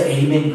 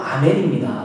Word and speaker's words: 아멘: 미국 사람들이 발음하는 거 보면 아멘을 못 하잖아요. 아멘을. 그래서 에이멘 그러잖아요. 간혹가다 한국교회에서도 잘난 척하고 에이멘 하시는 분들이 있어요. 히브리어 헬라어도 아멘입니다. 왜 그걸 자꾸 발음 못하는 미국 사람의 에이멘을 따라하는지 모르겠어요.